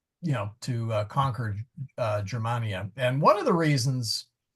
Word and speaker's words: Germania: Germania oops Germania non isn't it Gman uh no it's a soft G oh okay uh as in Gemma cheses oh okay graa AIA Syria egyp BR imper Romano Germania nonest in imperio Romano